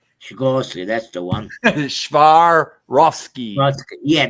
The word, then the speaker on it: Swarovski: Swarovski. Swarovski, that's the one. Swarovski. Yeah, that's the one. Thank you. I'll teach you to pronounce it yet.